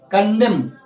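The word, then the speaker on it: condemn: ठीक है अगला है कंडम बोलते हैं अल्कोहल नहीं पढ़ेंगे में आप लगाना है ना कंडम सी ओ एन दी आई एम एन पढ़ेंगे क्या पढ़ेंगे कॉन्डम पढ़ेंगे क्यों पढ़ेंगे क्योंकि एन जो ए रहा है वो एम के बाद ए रहा है ना या ऐसे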